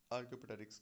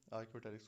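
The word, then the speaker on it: Archaeopteryx: आर्क्योपेटेरिक्स को। ठीक है, आर्क्योपेटेरिक्स को, पी साइलेंट है इसमें।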